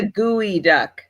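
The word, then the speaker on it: geoduck: want to go higher geod duck what are geod ducks try figure that out too it's a gooey duck is how you pronounce it duck do not Google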